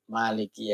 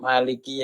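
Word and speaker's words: مَالِكِ: yaumiddin itu sama-sama benernya kalau Emak dibaca panjang artinya yang menguasai yang merajai kalau emaknya dibaca pendek artinya yang memiliki Nah itu sama-sama Betulnya ayat biasanya bacanya banyak yang panjang Maliki Kalau pendek juga nggak apa-apa anak-anakku sekalian dan cucu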